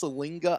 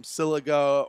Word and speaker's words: Siliga: And you would never know that it's pronounced Salinga unless you read the pronunciation card, because there is no N actually in his name.